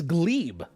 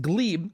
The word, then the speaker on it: Gleb: him his name is Glebe uh spelled gleb but pronounced Glebe and he is a